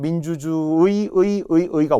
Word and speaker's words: 민주주의: 첫 음절의 의는 100% 의로 발음해야 되고요.